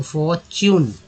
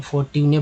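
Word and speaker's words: fortune: उच्चारण अक रूप में, तो फॉर्च्यून, फॉर्च्यून, कितने लोग फॉर्ट्यूने बोलते हैं, इसे फॉर्टून बोल देते हैं।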